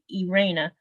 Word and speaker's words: Irene: email to um a her name is spelled Irene but she says Irena she lives in the